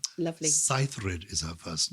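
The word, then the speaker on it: Saethryd: cythrid was born that probably it should be pronounced sethrid okay like ingrid yeah well we say cythrid her middle name is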